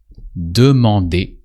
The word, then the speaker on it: demander: Demander. That usually sounds demander. Here you recognize the verb to demand, but in French is really lighter and demander really means to ask.